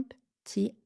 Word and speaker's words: petit: Même chose que pour un petit peu, on va enlever le e de la première syllabe de petit. Un petit creux. Un p un p petit un p petit un p petit creux.